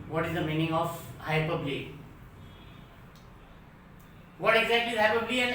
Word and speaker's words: hyperbole: pronunciation is hyperbole. But if we read it as hyperbole, hyper होके बोल, बढ़ा